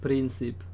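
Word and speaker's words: Príncipe: It's actually pronounced Principe.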